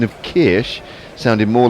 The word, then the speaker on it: Kirsch: And Leah, on the very same subject, says the SCH in German is pronounced like sh in English. CH in German is pronounced like you did.